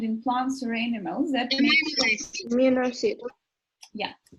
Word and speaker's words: amino acid: Then, any of chemical substances found in plants or animals that Amino acid. Yeah, listen very carefully. It's amino acid. Yeah, so you put the stress on the first, amino acid.